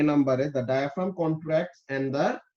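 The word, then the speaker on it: diaphragm: your lungs কি হয় যখন নাকি আমাদের এটার প্রোনাউন্সিয়েশন কি ডায়াফ্রাগাম নাকি কি বলে নাকি ডায়াফ্রাম ওকে সো তাহলে যখন নাকি ডায়াফ্রাম কন্ট্রাক্ট করবে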